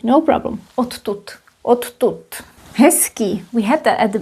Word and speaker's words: hezký: Now you know why we pronounce s here, because it's influenced by k. Voiceless, voiced, and when you look at the pair, it becomes s.